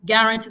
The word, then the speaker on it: guarantee: Guarantee the stress is on the last syllable.